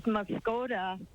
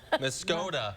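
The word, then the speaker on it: Muscoda: It's Muskota. Muskota. You've been schooled. Sorry about that. Okay. Gotta change the pronunciation.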